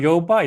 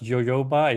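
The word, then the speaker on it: jojoba: And um I just learned how to actually pronounce yo y jo y jo y jo y jo y jo y jo y jo y jo y jo y joyoba. It's not yoyoba.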